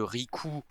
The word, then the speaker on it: Riku: auditeurs se poser la question le personnage de Rikou dont meth a parlé tout le long parce